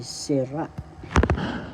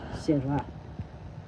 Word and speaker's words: sira: Another tagalog reiterations or pag-uulit is sira. sira first syllable si second syllable ra the second syllable has the accent and so you say sira sira that means turn down